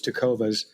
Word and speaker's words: Tecovas: So, that the name is Tokovas. Uh tee cas. Um, a lot of people may forget the S and call it Tokova, but it's Tokovas.